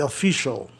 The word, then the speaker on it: official: Official, você tem ali o quê? O grupo especial, cial, você pronuncia shall, e sempre as vogais, a vogal I antes tem um som de I, official. É onde fica a sílaba mais tônica. Geralmente esses grupos especiais que ficam no final da palavra tornam a palavra paroxítona, né?